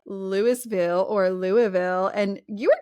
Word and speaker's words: Louisville: the show was actually just last year in Louisville, Kentucky. How you say it like that? Louisville.